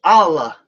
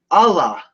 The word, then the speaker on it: Allah: Now, some people across the world, they might say Allah, and then they sort of pronounce it with a strong L. So it comes across like this. Allah, Allah, right?